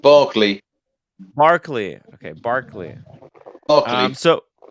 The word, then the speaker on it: Berkeley: of fine rare watches headquartered in London's uh Berkeley oh Berkeley Square that's that's literally how Marcelo mispronounces Buckley to Berkeley Square so it should it's pronounced Barkley Markley okay Barkley okay so yeah so wait